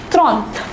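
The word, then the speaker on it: trente: 30 is different for number 30 we say tronth it is pronounced As Trump so shall we say it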